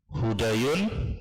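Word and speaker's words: هدى: hudayin ini aslinya nah hudayun tanwin sahih tanwin itu apa tanwin itu adalah kalau diucapkan seperti huruf nun sukun nah ini tulisannya hudayun bacanya hu da Yun sahih kalau hudayan berarti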